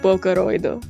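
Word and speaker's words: ボーカロイド: not named instead being written out phonetically like this pronounced like booo this could have just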